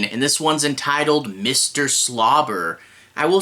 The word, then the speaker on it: Swlabr: 2 Episode 15 and this one's entitled Mr slobber I will say it's spelled s SW L A I've never seen